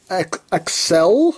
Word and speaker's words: Accel: Now, I know the proper way to pronounce it is Accel, like accelerate, acceleration, but you know, on the show it says Axel, the memory sounds like it's saying Axel, so I say Axel.